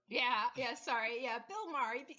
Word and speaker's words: Maher: ellis i said no i said his name wrong i said bear yeah yeah sorry yeah bill maher like if garth wolf